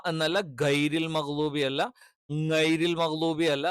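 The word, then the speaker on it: غَيْرِ: ഗൈരി, ഗൈരി, ഗൈരി എന്ന് കറക്റ്റ് പറയണം. ഗൈരി എന്നുള്ളത് എന്ത് ചെയ്യണം? കൃത്യമായിട്ട് നമ്മൾ എന്ത് ചെയ്യണം? ഉച്ചരിക്കണം. ഗൈരി എന്ന് പറയുമ്പോൾ ശ്രദ്ധിക്കേണ്ട കാര്യം എന്താണ്? തൊണ്ടയുടെ മേൽഭാഗത്ത് നിന്നാണ് ഗൈരി, ഗ എന്നുള്ള ഉച്ചാരണം വരുന്നത്.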